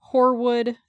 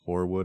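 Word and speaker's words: Hoarwood: quick point out that horwood is spelled h o a r w o d just to be clear yes it's like hor Frost yes I don't know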